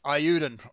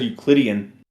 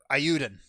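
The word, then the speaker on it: Eiyuden: i could figure out how to pronounce it it's ayudin chronicle 100 heroes oh i thought it said euclidean nope ayuden it looks like east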